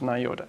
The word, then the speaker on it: NIODA: Or is it well pronounced? NIODA, yes.